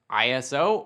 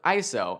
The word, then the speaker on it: ISO: ISO can be pronounced ISO or ISO and depending on where you are in the world you might hear both and both can be used ISO is the level